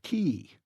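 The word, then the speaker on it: cay: at least pronounce it correctly Scotty K is pronounced key see Scotty exclaimed triumphantly the only place where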